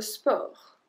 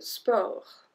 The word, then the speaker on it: sport: Le sport. Le sport. We don't pronounce the T at the end.